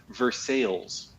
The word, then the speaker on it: Versailles: recently to learn that the local way it's pronounced by people who actually are from there right is Versailles so while I agree it's the same word